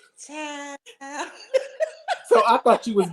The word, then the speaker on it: CHIIILD: Now, Child is spelled CHIIILD. So you have to say Child.